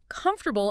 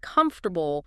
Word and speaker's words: comfortable: I remember a student who always stressed the wrong syllable in comfortable instead of comfortable.